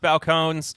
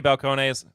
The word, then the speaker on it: Balcones: Now, I think it's pronounced Balcones. I always say Balcones.